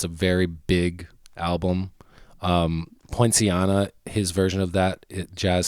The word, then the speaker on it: Poinciana: Poinciana, his version of that jazz standard is like. Thank you for pronouncing that.